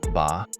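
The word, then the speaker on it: 八: Superstar of Chinese numbers both Mandarin ba and Cantonese bot speakers love this one because it sounds like fa Mandarin or fat Cantonese which means Prosperity want to see prices double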